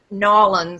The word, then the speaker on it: New Orleans: from New Orleans and I can't ever say it right the way they say it but nawlins somewhat up um but